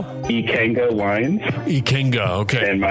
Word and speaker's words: Ikenga: It's I K E N G A and you pronounce it how? Ikenga Wines.